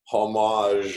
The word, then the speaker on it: homage: Wow, that's like the ultimate, you know, homage, or whatever. That is the word. You picked the exact word there, homage, and you even did it without the H pronounced right there.